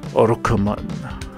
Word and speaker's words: ロックマン: Or how the I love it the way the Japanese pronounce it. Orokuman.